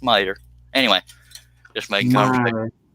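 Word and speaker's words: Meador: like it's mea d o r but it's pronounced merer anyway just made merer okay I'm cutting where the Brads are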